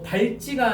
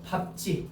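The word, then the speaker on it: 밟지: 그리고 발지가 아니고 밥지 별표.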